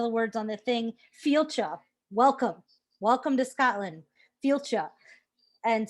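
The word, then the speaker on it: Fàilte: And I learned how to pronounce one of the words on the thing, Fielcha.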